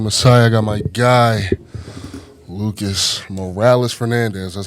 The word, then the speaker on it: Lucas Morales-Fernandez: I got my guy, Lucas Morales-Fernandez. That's how you pronounce it, right?